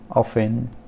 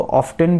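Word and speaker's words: often: तो इसको कोई और इसको ऑफ्टन भी बोल सकते हैं, तो ये गलत नहीं है, मगर 90% या 95% लोग इसको ऑफन ही प्रोनाउंस करते हैं, तो इसलिए मैंने यहाँ पर साइलेंट टी के अंडर इसको रखा है।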